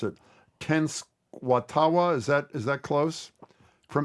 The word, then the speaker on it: Tenskwatawa: You have an excerpt from a speech of, and I'm going to mispronounce it, Tenskwatawa. Is that close? From Tenskwatawa, yes.